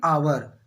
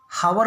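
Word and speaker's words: hour: इसी प्रकार आगे देखते हैं, आई हैव एन आवर, हावर नहीं पढ़ते, इसको क्या पढ़ते हैं, आवर पढ़ते हैं, एच जो है साइलेंट रहता है, आवर पढ़ते हैं इसको।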